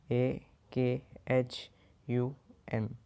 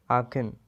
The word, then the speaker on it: Aachen: अब ये AACHEN को प्रोनाउंस ऐसे करते AAKHUN, आखिन।